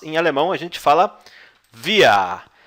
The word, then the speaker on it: wir: Nós, em alemão, a gente fala wir. Wir. E você pronuncia assim, ó. É tipo isso daqui. Wir. Wir. W tem som de V, tá?